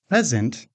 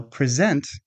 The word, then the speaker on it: present: For example, the word present, with stress on the first syllable, is a gift, while present, with stress on the second syllable, means to give something to someone.